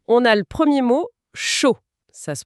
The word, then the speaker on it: chaud: Ici, on a le premier mot, chaud. Ça se prononce un peu comme le mot anglais pour un chaud spectacle.